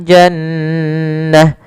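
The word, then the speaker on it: جنة: Kemudian pada lafal jannah, maka di sini nun tasdidnya kita namakan dengan bacaan gunnah. Cara membacanya adalah suara nunnya ditahan dulu, ya. Jannah, tidak langsung jannah.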